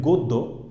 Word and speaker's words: গদ্য: বা আমি যদি বলি গদ্য, গদ্যের ক্ষেত্রে একই অবস্থা, যে হচ্ছে এই জফলাকে আমরা জফলার বদলে হচ্ছে কে দ্বিত উচ্চারণ হচ্ছে, গদ্য।